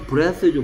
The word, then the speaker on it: breath: th의 발음이 얘는 번데기 발음입니다. bath. 얘는 똑같이 혀를 무는데 z 발음입니다. bathe. bath, bathe. 얘도 breath, breathe.